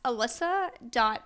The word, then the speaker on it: Elisa: and Tik Tok at alyssa. my mother did me dirty my name is spelled e l i s a even though it's pronounced Alyssa like a l y